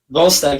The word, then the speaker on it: Volstagg: Volstagg, yeah, Volstagg.